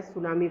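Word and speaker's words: tsunami: तो हम देख सकते हैं बेटा सुनामी को डिस्ट्रक्टिंग वेव्स कहते हैं. इसमें टी जो है वो साइलेंट होता है जापानीज़ वर्ड में बराबर.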